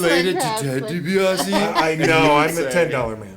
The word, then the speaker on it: DiBiase: I want to say Blasio. DiBiase. DiBiase is the, and if you're a fan of pro wrestling, you'd know Ted DiBiase, the $1 Million Man.